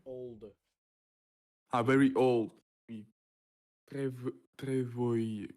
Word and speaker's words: vieille: Très vieille. How to pronounce that? Viol. Vieille. Vieille. Vieille.